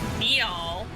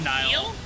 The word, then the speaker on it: Niall: This is Neal, like the One Direction. That's not how you say it. Niall.